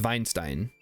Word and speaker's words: Weinstein: I mean, it is pronounced, in Germany, it would be pronounced Weinstein. Because Well, I'm it's, not in Germany.